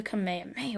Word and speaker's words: kamehameha: to a zooku this of course being the kamehameha wave i believe that's how you pronounce it so izuku would power up before